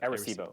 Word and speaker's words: Arecibo: Is that the proper Arecibo. pronunciation? Yeah, Arecibo. Okay, about Arecibo, and there are other radio observatories that aren't like Arecibo's one big dish, Mhm.